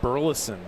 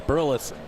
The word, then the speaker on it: Burleson: Is Alec Burleson was how I pronounce it. And it's Burleson.